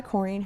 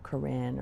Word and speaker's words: Corrine: And I thought, and I always just thought in my head, this guy pronounces my name right. No one says Corine. They say, you know, Karen or whatever.